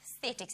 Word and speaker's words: Sthetics: Mentioning the global market, you guys are Sthetics.